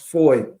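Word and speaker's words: Fahie: this we know that the trial of Mr fahi has started the BVI um Premiere um is he still technically Premiere no he he resigned his it's his is actually pronounced Foy right Foy right don't ask me why what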